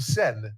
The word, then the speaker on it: Seine: Now, you pronounce it Seine? The Seine.